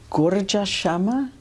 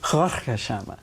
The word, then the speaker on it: Gharka Shama: Western girls and proclaims, I'm going to mispronounce this, Gurja Shama? No. Oh, yeah, Gharka Shama. Roughly translated, it means shocking.